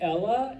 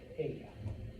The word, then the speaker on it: ella: Ella. I hear you say Ella, you're like gonna lose 20 points right there. All right, because remember, two L's make a Y sound. Ella.